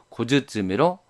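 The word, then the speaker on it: 小包: 그런데 고와 쯔쯔미가 이어질 때 고 영향을 받아서 쯔가 즈로 변했습니다. 그래서 원래는 쯔였는데 즈로 변했다는 것을 나타내기 위해서 다행의 즈를 써서 고즈츠미로 발음하게 됩니다.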